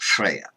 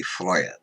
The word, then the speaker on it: Freyja: Freya is usually pronounced Freya though that is a modern pronunciation in several languages her name in Old Norse would be friar so one can say